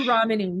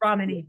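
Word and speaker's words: Ramani: this from Dr Romani Dr ramany yeah Accent on the Ramy yeah who's who's awesome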